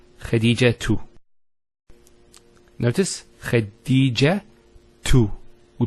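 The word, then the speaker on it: خديجة: I actually pronounced the ta marbota as a ha. Medina, Khadija. Now if I stop on the ta marbota, it's actually pronounced as a ha in both cases.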